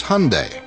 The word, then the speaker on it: Hyundai: during the super bowl it's hyundai like sunday we hear hyundai hyundai